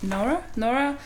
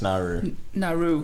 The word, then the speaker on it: Nauru: then in brackets, Manus, I think you pronounce it Nora, Syria and Palestine. Oh, Manus Nauru. Yeah. I knew I said it wrong.